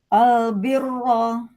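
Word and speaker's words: البر: Basiro heeh kiro i albirro. Kalau waqaf albir albir tipis. Tipis kalau wakaf albir. Albir. Nah, gampang kalau tipis mah bir. Bir tidak panggilahnya terus enggak ke enggak ke belakang kan ya gusinya.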